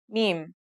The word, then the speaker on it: mim: Now let's start with our first letter, mim. This letter sounds just like the English M, and it should be pretty easy to pronounce.